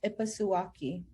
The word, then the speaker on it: Ipasuwaki: Okay, Nixokwa, Nistu Netanaku, Ipasuwaki. Hello, all you good people. My Indigenous name is, pronounced Ipasuwaki. That is pronounced in the Blackfeet Nation language.